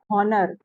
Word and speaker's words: honor: Okay, and then in honor also H is silent. When we pronounce, we don't pronounce honest and we don't pronounce honor.